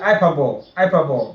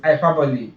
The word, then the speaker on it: hyperbole: But Nigerians call it hyperbole, but it's hyperbole.